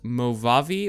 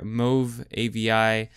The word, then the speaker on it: Movavi: you guys today is called mavi or move Avi um either of the two whichever you guys want to pronounce it uh it's actually a